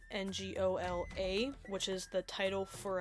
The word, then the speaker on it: Ngola: Um, one thing I want to just point out is that Angola, which is spelled N G O L A, which is the title for a monarch, is different from the African country Angola.